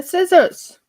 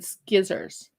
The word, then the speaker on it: scissors: What did I do with my scissors? Skizzers. My husband likes saying skizzers. Not scissors, skizzers. It makes sense. It makes sense, he says. It's the way it's spelled.